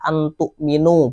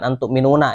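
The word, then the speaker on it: أن تؤمنوا: Jadi bacanya adalah antuk minu, bukan antuk minuna ya.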